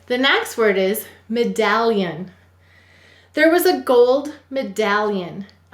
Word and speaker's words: medallion: We will say to spell me-dal-lion. What will we say to spell? Me-dal-lion. All right, I'm exaggerating it. Let's go ahead and sound it out. The first syllable is me. M-e. The second syllable is dal. D-a-ul. The third syllable is lion. Ul. Ya. Use an I-E-ya. A-n. Me-dal-lion. You've got it. Go ahead and write it. And once again, I'm exaggerating it so you can hear it.